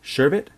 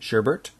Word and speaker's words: sherbet: my favorite desert is lemon sherbet despite many people pronouncing it sherbert is is working as